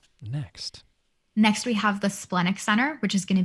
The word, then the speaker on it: splenic: next we have the splenic center which is going to be the triangle on the left side how do you pronounce that the what center splenic splendid like the spleen okay yeah okay spleen